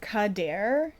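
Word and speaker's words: Cadair: I'm going to try my best to pronounce this. Kadair. C A D A I R.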